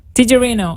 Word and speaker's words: Tijerino: Tijerino. Tijerino. Okay, perfect. But you pronounced the correct Spanish version.